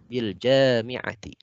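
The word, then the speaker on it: بالجامعة: Bil jami'ati. Nah, bacanya panjang.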